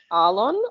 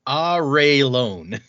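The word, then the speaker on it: Arelon: is it ireland or arlon or i always said it on uh according to this it is pronounced ah ray lone oh my god all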